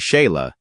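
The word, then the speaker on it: Sighle: A filha mais nova, Sigal, pronuncia-se Sheila, herdou o espírito ativista da mãe e ocasionalmente aparecia ao lado dos pais em eventos políticos e causas públicas.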